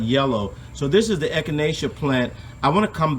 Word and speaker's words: Echinacea: It's spelled E-C-H-I-N-A-C-E-A, and that's Echinacea.